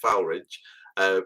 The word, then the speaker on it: Foulridge: So I mean, sometimes it snows in spring, but when it snowed, especially when we're at Foulridge, is how the locals say, isn't it? Foulridge.